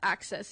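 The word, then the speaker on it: AXS: tickets from and it's called access it's spelled a-x-s and that's how I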